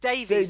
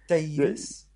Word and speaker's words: Davies: what what are you or Davis is it Davies like rabies no it's pronounced very true do you have to say it with a Welsh accent Davis Davis that's right you do you do all